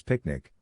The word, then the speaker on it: PQNK: PQNK to be pronounced as picnic which stands for Peter Tratini Zamashadakiari and means the regenerative and sustainable pristine organic farming system.